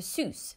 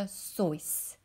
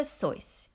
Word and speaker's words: Seuss: Seuss but dr. Seuss that's right choice like in voice dr. Seuss your turn to pronounce fun fact number two another surprising fact